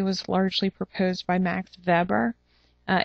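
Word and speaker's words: Weber: The bureaucratic theory was largely proposed by Max Vber. Uh it's spelled Webbr, but it's pronounced veber.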